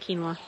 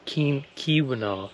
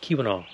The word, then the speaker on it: Keweenaw: Wait, you said quinoa. Quinoa? I said earlier, I keep thinking of that as like quinoa, quinoa, because I keep spelling it wrong or saying it wrong too. Keweenaw, Keweenaw.